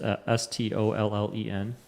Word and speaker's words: Stollen: It's pronounced Stollen. No.